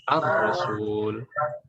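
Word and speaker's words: الرسول: Aslinya Rasul saja itu tidak pakai tasydid. Tapi karena ada al ya. Karena al dan ini syamsiyah, jadi ar-rasul. Ar-rasul. Boleh pakai tasydid ditulisnya, boleh tidak. Walaupun tidak ada tasydidnya, kita bacanya ar-rasul.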